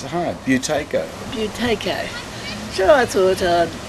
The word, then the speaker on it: Buteyko: And while this was going on, I saw the advert in the paper about the how do I pronounce it? It's a hard name. It's hard. Buteyko.